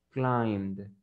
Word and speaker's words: climbed: Entonces la pronunciación correcta sería climbed, climbed, climbed. Esa era la pronunciación correcta. O sea que ustedes lo tenían que pronunciar con la letra D, climbed.